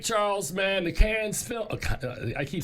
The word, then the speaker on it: Cannes: All right, Charles, man, the Cannes Film... I keep saying Cannes. It's Cannes. The Cannes Film Festival is going on right now. There's no S. It's just Cannes.